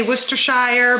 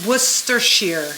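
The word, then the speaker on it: Worcestershire: wor wer Shear sauce I always say Worcester Shire but everyone told me that I was saying it wrong so it's wer Shear so Worcester Shear sauce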